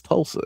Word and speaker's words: Tulsa: It's not Toulouse, it's Tulsa.